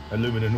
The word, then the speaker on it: aluminum: Aluminum always makes me laugh. Aluminum. well, that's the way it's spelled.